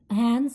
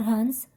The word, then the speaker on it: Hans: You can pronounce it as Hans or Hans.